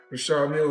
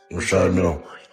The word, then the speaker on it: Richard Mille: No, I like to call this, people pronounce them different ways. Richard Mille is what my jeweler told me, so. That's exactly how you say it, Richard. Richard Mille.